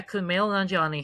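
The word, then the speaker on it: Kumail Nanjiani: movie internals with that name, I have difficulty pronouncing, Kumage. Kumale Nani. Yeah, Kumale Nanjani.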